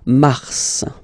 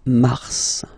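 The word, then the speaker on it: Mars: it's an exception because normally final s is not pronounced in French okay we've got some exceptions and this one is one of them so Mar pronounce the final s mar mar okay then ail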